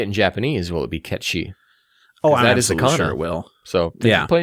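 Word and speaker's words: Cait: Ki or something yeah Ki is how you say that name but uh they're going Kate Sith like okay they had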